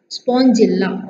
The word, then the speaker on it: Spongilla: Porifera, example is Spongilla cycon. Porifera, P-O-P-O-R-I-D-F-E-F-A-R-A-R-A. Okay, Porifera. Example is kenna Spongilla, S-P-O, spawn, G-I-L, jill, L-A, la, Spongilla.